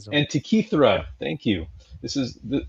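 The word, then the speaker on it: Antikythera: The Antitheara mechanism. Am I saying that right? Anti Antra mechanism. Antichra.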